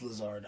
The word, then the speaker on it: Lazard: I thought it's not Lazard. No, it's Lizard. Nah, it's Lazard.